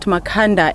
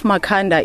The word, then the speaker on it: Makhanda: in this case of makanda is the same case they could not pronounce makanda and his name then was tend to Makana okay and I'm just